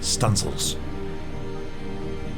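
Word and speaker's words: studding sails: the stunsel Booms to set studying sales pronounced stencils this was known as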